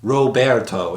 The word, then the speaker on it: Roberto: powder Shinobi fireworks tool he yells the name Roberto pronounced Roberto in the Japanese dub though spelled Robert in the English subtitles along with the medieval